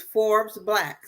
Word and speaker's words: Forbes BLK: think about joining, is Forbes Black. So Forbes, like the magazine Forbes Black, but it's spelled Forbes BLK.